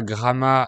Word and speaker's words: Gramat: Donc c'est surtout dans le sud du pays qu'il y a des noms de villes dont on prononce toutes les lettres. Bref, on est arrivé à Gramma lundi après-midi et ensuite